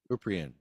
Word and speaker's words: Kuprian: Kuprian, am I saying it right? Cooper, yeah. Kuprian.